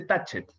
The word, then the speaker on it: Tacet: Rodrigo es músico y autor de Tacket. Esa es la pronunciación correcta además, ¿no, Rodrigo? Yo le digo Tacket porque me gusta cómo suena Tacket, pero también se dice Tatchet.